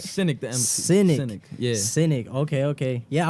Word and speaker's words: Xynic: name come from bro cynic so the word cynic originally comes from like the word cynical i remember i used